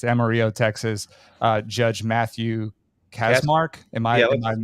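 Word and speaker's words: Kacsmaryk: North Texas it's Amarillo Texas uh judge Matthew casmark am I am mispronouncing that if you are that's how if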